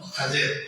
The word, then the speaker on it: خضر: دیا، موسیٰ اور خضر۔ یہ اصل میں جو لفظ ہے یہ خضر ہے، اس کا صحیح جو تلفظ ہے وہ خضر ہے، خافض زبر ہے، ضاد کے نیچے زیر ہے اور خضر، لیکن یہ اس کا ایک دوسرا تلفظ خضر بھی ہے، خضر غلط ہے، خضر، خا کے نیچے